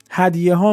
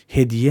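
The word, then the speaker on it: هدیه: "Hadyehā midād har darveesh rā" "Hadyeh" is the correct pronounciation. Do not read it as "hedyeh".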